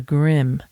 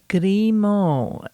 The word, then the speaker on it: Grimaux: It's actually not pronounced as the Grim. That's how we would anglicize it, in English.